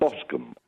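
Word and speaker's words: bosom: haven't got G right what is it ilum and bosum yes right thank you very much bosum bosum there we are I think that's the definitive version of that now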